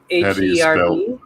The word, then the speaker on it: herb: How do you spell herb? H-E-R-B. H. So it's herb? It's weird how Americans pronounce it herb.